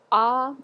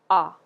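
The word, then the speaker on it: à: this word is pronounced ah ah go ahead ah good so it's pronounced just like the letter A in French ah but it just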